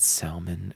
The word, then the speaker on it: salmon: I had salmon and crab cakes. She had a Salmon? ribeye steak. 200. Do you pronounce the L in salmon? I No, said you don't.